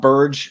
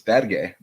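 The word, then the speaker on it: Berge: on this front uh that is how he pronounced his name it's not it's not Burge it's not Burger it's bad gay but or in America Sandy barge Sandy barge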